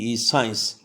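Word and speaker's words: science: आई एन ओ एस सी जब भी किसी शब्द के शुरू में या दरमियां में आएगा तो सी का लेटर साइलेंट होता है साइंस याद रहे के यह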